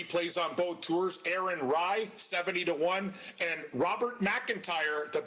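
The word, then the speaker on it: Rai: Aaron Rybread, but it's spelled R-A-I like Ray. Watch out for him. He plays on both tours. Aaron Rye, 70-1.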